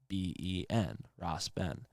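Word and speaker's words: Rasben: i don't realize it so ross ben is short for i think rastafari ben so that would be spelled r-a-s-b-e-n ross ben and then michael juan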